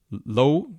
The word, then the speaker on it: Lowe: McAn World group the interpublic group and low low worldwide is that the way to pronounce it yep M yep he's also worked